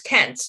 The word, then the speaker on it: Kent: It's Kent, not Kynes, but that's okay.